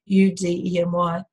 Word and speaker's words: Udemy: A great example of that, there's a website called, I never know how to say it properly, but it's Udemy or Udemy. It's spelled Udemy. It's like academy, but with U, Udemy.